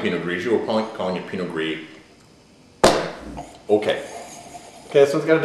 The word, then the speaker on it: Pinot Gris: The Helfrich 2007 Pinot Gris, not Pinot Gris. Pinot Gris. The S is silent.